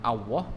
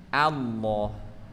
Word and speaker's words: Allah: ketika diucapkan menebal ya jadi bukan pakai W atau bukan pakai wau bukan Allah bukan Allah tapi Allah ya kemudian ketika bertemu dengan